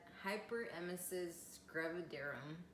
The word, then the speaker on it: hyperemesis gravidarum: that it was awful for me I had hyperemesis gravidarum that's how you pronounce it and it's short for HG so